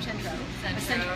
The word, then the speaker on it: Centro: And Jason from Centro, sorry. I always pronounce it Centros, Jason, I'm sorry, but Centros, we love Jason.